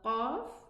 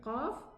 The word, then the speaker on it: ق: So we have the qaf and the kaf, they are both pronounced from the furthermost tongue.